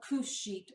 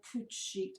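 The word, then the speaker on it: couche: going to take a couch sheet or couch sheet I've heard it pronounced both ways it's spelled like couch but it's not pronounced like couch and these are special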